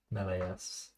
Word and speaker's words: Meleus: told to put emphasis on the S. Meleus.